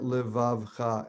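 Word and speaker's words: לְבָבְךָ: That's not the case for levavcha. It's silent in levavcha. That is kind of confusing. It's pronounced under the l because it's the first letter. It's silent under the vet because it's ending the syllable vav. And then you have cha, also 3-syllable word.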